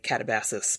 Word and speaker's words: Katabasis: are dirty Yanks, so we will say Katabasis because that's how it's pronounced in America.